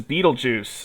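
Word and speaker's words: Betelgeuse: along following between the two every 25 is beetlejuice that's how you say it m2 Roman numeral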